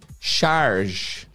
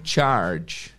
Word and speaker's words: charge: pronúncia galera não é charge sempre que você encontrar esse ch aqui em inglês o sonzinho vai ser do Tchan Tchan sempre tá então